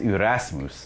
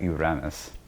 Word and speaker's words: Erasmus: His name is Erasmus, not Uranus.